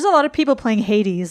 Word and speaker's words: Hades: There's a lot of people playing Hades, like in the chat and just in general. It's pronounced Hades. No, it's not. Hades, yeah.